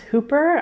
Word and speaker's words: Whooper: WH o OPR but it's pronounced Hooper I thought it was whipper but it's not you probably haven't heard